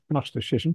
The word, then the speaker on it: gnosticism: age believes and yeah I always like to pronounce the g at the beginning of gnosticism but I know that is not still English but yeah that is still